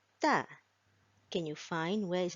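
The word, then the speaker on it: ت: So the way we pronounce Ta is by putting our front part of our tongue to the front upper front teeth, sorry.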